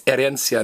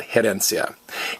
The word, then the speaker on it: herencia: So this H is silent. It's heredar, not heredar, and it's herencia, not herencia.